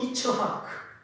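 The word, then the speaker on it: יצחק: 이삭, 영어로 아이작 뉴턴. 영어 세계에 아이작이라는 이름이 얼마나 많은지 모릅니다. 히브리 발음으로 이츠하크.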